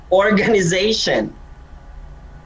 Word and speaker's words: organization: excuse me organization organization the stresses on the zay because the word ends in t-i-o-n for most words that end in t-i-o-n the stress is on the penultimate syllable okay penultimate syllable meaning next to the last syllable next pronounce it's pariah